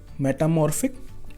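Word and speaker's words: metamorphic: Now this name is a little bit difficult, मेटामॉर्फिक। ठीक है, इसको भी आपको थोड़ा प्रोनाउंस करना पड़ेगा, मेटामॉर्फिक। ठीक है, पीएच को फा बोलते हैं।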